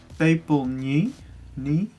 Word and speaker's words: Pepelniy: And the song is called Pepelniy. I know I'm pronouncing it right.